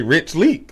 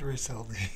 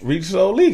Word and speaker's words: RichSo Leek: People don't put the soul. You probably say Rich Leek on there. You feel me? Oh, it's RichSo Leek. RichSo Leek.